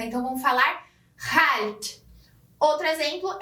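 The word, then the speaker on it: chalt: Ao invés de escrever kalt, como no alemão, eles vão escrever com CH e vão ter uma pronúncia mais pegando na garganta. Então, vão falar halt.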